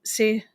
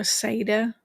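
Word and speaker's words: seiðr: Uh what I do as a hedge witch hedge riding is se work um or seda some pronounce it like that. I pronounce it sea because that works for me.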